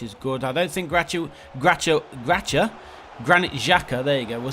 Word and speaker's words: Granit Xhaka: I don't think Granit Xhaka, there you go, we'll say his name properly. I don't think Granit Xhaka is playing today.